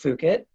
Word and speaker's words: Fukitt: itself because even though it is pronounced fook it it actually reminds you